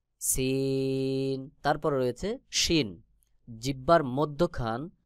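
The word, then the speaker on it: سين: যেমন যা তারপরে সিন জিহ্বার আগা সামনের নিচের দুই দাঁতের পেট ও আগার সঙ্গে লাগাইয়া সিন সিন তারপরে রয়েছে শিন জিহ্বার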